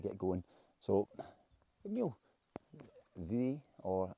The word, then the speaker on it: Buidhe: So Meall Buidhe, or I think it's spelt BH, so and then BH is in Gaelic's normally V.